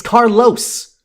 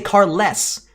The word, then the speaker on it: Carlos: someone named Carlos Carlos it's Carlos you clearly say Los you don't say car less the joke requires you